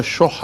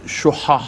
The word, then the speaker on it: شُحَّ: پر فرمایا وَمَن يُوقَ شُحَّ نَفْسِهِ فَأُولَٰئِكَ هُمُ الْمُفْلِحُونَ. یہ شح ہا کے ساتھ ہے، خا کے ساتھ شیخ والا نہیں ہے.